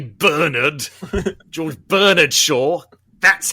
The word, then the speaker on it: Bernard: Bernard and Bianca, not Bernard as the Americans call him, because we say Bernard, George Bernard Shaw.